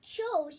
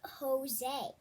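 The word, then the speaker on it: José: so he said that joe's is supposed to be pronounced jose and that is correct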